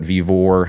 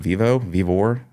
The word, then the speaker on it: Vivo: And one thing led to another, that show, then did another show at Vivor. I think it's how you say it, Vivor, over in on the Kansas side. Oh, Vivo? Vivo, thank you.